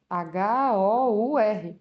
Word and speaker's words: hour: Hora se escreve com H. H-O-U-R. Por que você falou que é an hour? Porque, atenção, é o som.